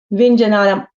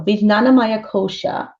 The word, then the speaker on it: Vijnanamaya Kosha: Vinjanana, oh, excuse me, always pronouncing this, my tongue twirls and whirls. So Vijnanamaya Kosha. There we go. Vijnanamaya Kosha.